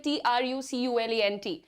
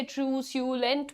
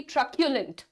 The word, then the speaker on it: truculent: ये वर्ड बोलेंगे, ठीक है, TRUCULENT. प्रोनाउंस कैसे करेंगे? क्या आप इसे ट्रूस्यूलेंट बोलेंगे? नॉट एट ऑल. The correct pronunciation is going to बी ट्रक्यूलेंट. Truculent.